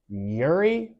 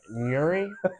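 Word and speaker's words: Nurri: Today we are drinking Nori. It's an ultra filtered milkshake. If you're seeing this, at least sponsor me. He can't even pronounce it. Yeah, Nuri. But I mean, it's gas.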